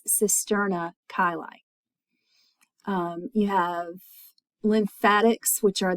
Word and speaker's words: cisterna chyli: I apologize for that. I don't want to re-record those, so the pronunciation is cisterna chyli.